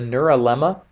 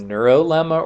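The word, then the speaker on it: neurilemma: the neural em'ly the neural Emma it's also pronounced neuro lemma or neural Emma it's spelled with a Oh or an I in it after Annie you are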